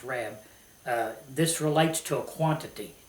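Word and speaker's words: רַב: As many, the Hebrew word is rab, okay, or rob. I think it's actually pronounced rab.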